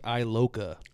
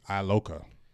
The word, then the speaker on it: Iloka: Facebook Daquan Cole says how do you pronounce his name again it's George Iloka Iloka so maybe a name